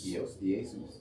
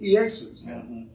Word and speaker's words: Iesus: If you look in that 1611, it's pronounced, it's spelled I-E-S-O-U-S. Iesus. Iesus.